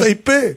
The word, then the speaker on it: Taipei: Est-ce que je prononce bien Taipei. Taipei, Taipei, c'est bien ça, Taipei, Taïwan.